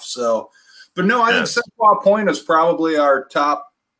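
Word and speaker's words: Seulchoix: You know, of course, Seshwa Point, we always say is one of our favorites. Seshwa is probably number one.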